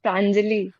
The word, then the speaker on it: Prangali: I can hear you Prali. Go ahead. Uh actually sir, my name is Prangali. Prangali. Sorry about that.